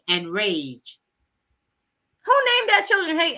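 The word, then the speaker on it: Rayge: They spell hate H-A-I-G-H-T and rage R-A-Y-G-E. It's height. It's height and Rajay. They say they pronounce it hate and rage, and then they say good luck, kid.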